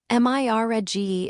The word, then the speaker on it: mirage: "Mirage is pronounced mirage," said Valency shortly, picking up her tea and her beans.